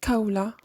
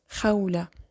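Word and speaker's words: خولة: It's not ka, but kha. Like my name, Khawla. It's not Kawla, it's Khawla.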